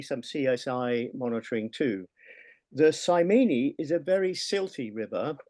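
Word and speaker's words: Simene: Have I pronounced that right, Bob? And 3 minutes for you. Simony.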